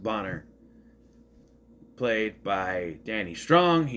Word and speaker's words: Boner: We get Boner. It's pronounced Bonner.